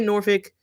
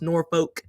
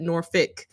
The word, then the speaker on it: Norfolk: comment on the video is, how do you pronounce the city name Norfolk? I say Norfolk.